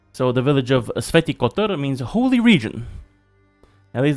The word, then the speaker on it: Kotar: So with Saint Kotar, and I'm pretty sure that is how you pronounce it, it's Kotar. Not too familiar with Croatian.